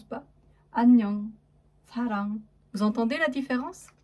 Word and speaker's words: 안녕: Et pour le NG, nous venons de le voir, hein, du coup, donc sarang ou annyeong. Annyeong, complètement muette devant la voyelle.